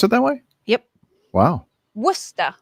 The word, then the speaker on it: Worcester: Next, we Do have they pronounce it that way? Yep. Wow. Worcester. It's right near Asheville. Worcester.